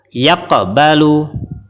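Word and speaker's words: يَقْبَلُ: huruf Qalqalah tidak dipantulkan Kemudian yang kedua cara baca yang benar adalah yaqbalu yaqbalu contoh yang salahalu Bu salah karena tidak dipantulkan kemudian huruf Qalqalah yang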